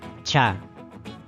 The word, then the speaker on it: ch: Recordemos que en el quechua esta letra se pronuncia cha.